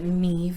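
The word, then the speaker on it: Niamh: I can show you the way that Neeve is actually spelled because let me tell you that's not how I would have pronounced it let me see if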